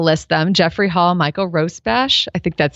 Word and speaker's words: Rosbash: individuals um i'll list them jeffrey hall michael rosebash i think that's how you pronounce it you can correct me rosbash yeah ross bash and michael young two are from brandeis and